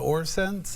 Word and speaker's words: OrSense: Is that Yes, how you it's pronounce called it? OrSense, and Okay.